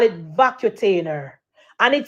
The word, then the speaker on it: Vacutainer: cuz if a vacuum a v call it vacutainer what the word pronounced petal empress we a nurse vacainer what none of them know all fabulous call it vacutainer and it say it is a it is